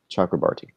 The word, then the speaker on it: Chakrabarti: Chakrabarti. Okay, Chakrabarti. I learned to pronounce his name right.